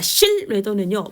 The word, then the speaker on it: 신뢰도: 자, 실뢰도는요. 발음으로 암기하세요.